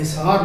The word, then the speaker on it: حصار: نے لفظ حصار پڑھا، جبکہ میرے نزدیک یہ زیر کے ساتھ ہے، حصار لفظ ہے، تو پڑھنے میں شاید